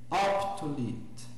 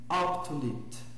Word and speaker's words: optulit: Então, seguindo ali, absunt, optulit. Percebam, inclusive, que eu pronuncio bem o T final, né? Então, absunt, optulit. Né? É um T que tem que ser pronunciado, não pode passar por cima dele.